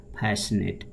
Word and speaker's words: fascinate: Synonym में पहला है फैसिनेट, FASCI। CI को नहीं पढ़ते हैं, साइलेंट रखते हैं, तो FAS को फैस और NATE को नेट, फैसिनेट मोहित करना।